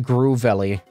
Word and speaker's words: Grovyle: Pronounced Groovelly.